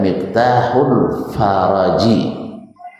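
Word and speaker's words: مفتاح الفرج: Padahal bukan bacanya bukan Miftahul apa ya baca mah. Yang betul bacanya Miftahul Faraji. Bukan Miftahu.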